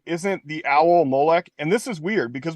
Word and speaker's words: Molech: it interesting also that when they sell spell it they spell it with a CH when it's a when it's a cough which should be a k maybe that was too